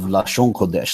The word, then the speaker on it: Lashon Kodesh: form of people and they call it la Shawanda now that's their dialects pronunciation of Lashon kodesh literally the holy tongue it's a distinct form